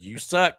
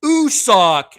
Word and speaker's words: Usoc: I said, you suck. You suck. God damn it. He says, it's you. He's like, it's Usoc.